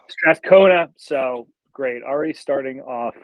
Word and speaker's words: Strathcona: Strathcona. Strathcona.